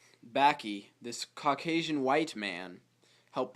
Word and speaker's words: Bakke: to talk about the University of California versus baky baky baky Allan baky baky it's pronounced baky this Caucasian white man helped pave the way